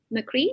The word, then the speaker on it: Macri: So if yours is Real Nick Macri, am I pronouncing it right? There you go. See, it's Italian, so you're pretty close. You got it.